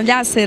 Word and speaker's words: Llacer: Gente, nós estamos aqui na Expo 2017 com a Lhasser. Acertei? Isso mesmo, Lhasser. Como é que se pronuncia?